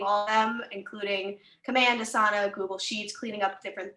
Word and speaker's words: Asana: are growing, creating all of them, including Command, Asana, Google Sheets, cleaning up different things. And then we have a marketing team as well. Can I just ask you quickly, you've mentioned Dasana, is it Dasana? Asana.